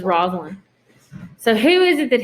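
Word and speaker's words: Rosaline: list who is it rosalind or rosa lions i would say pronounce it this roslin so who is it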